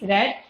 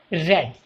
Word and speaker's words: read: Spelling is R-E-A-D, but the pronunciation is red, and in past participle also red.